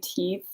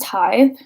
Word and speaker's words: Tithe: of them don't know how to say tithe like I I can't tell you how many of them say teeth or Tift actually is the most common one I think but yeah it's pronounced tithe and this is I